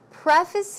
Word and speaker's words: preface: And Peter says, so obviously he's going to have to preface it with some formal language. Preface here is a word, preface. The stress goes on the first syllable.